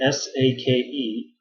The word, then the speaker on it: sake: no, okay, it's spelled S-A-K-E, but it's called, in Japanese person pronounces it as sake. Okay, it's not an E sound at the end, it's an eh.